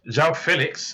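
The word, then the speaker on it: João Félix: to come out and tell these commentators how to say their name properly. Because João Felix has now come out and said it. Not more than 3 or 4 weeks, he's coming to England. Now, my name's not João Felix, it's João Felix. And now they say João Felix.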